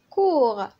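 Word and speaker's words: court: كور كذلك الطفل الأخير موي ما كتنطقش، اللي هي قصير.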